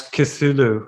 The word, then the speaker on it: Cthulhu: That's Cthulhu, I think, is how it's pronounced, and this is one of the gods of destruction.